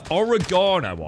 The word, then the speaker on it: oregano: very expensive orogo uh origano I call it uh is there's another one in America that that is has a different pronunciation I've always known it as oregano oregano uh there's another